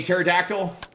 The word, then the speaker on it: pterodactyl: can't you hear a pterodactyl uh P the p is silent that's great what's going